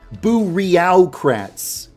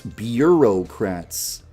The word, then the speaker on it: bureaucrats: this this word looks like it should be pronounced boreal Kratts a squad full of boreal Kratts but it's bureaucrats it'd be Errol Pratt's Bureau this this is